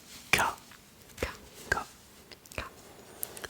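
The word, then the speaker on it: か: Alors, ils utilisent une syllabe à la fin de chaque question qui est la syllabe K K K K.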